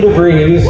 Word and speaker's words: DeVries: With the help of trusty treasurer Vicky DeVries, rhymes with cheese, Dave reached out to